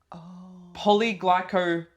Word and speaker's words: PolyGlycopleX: It is polyglycoplex, and I say it like that because the X is capitalized.